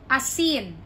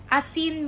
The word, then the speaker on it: Asin: let's have the word Asin Asin means salt right so when you pronounce it the stress is at the second syllable so it would be a sin Asin a sin okay